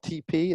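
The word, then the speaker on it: TePe: Uh, one brand is called TP. It's spelled T E P.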